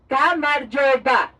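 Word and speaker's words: გამარჯობა: In Georgian language is pronounced like Gamarjoba.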